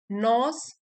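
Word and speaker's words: gnaws: जा रही है एंजाइटी नॉज जी साइलेंट है यहां पे नोज एट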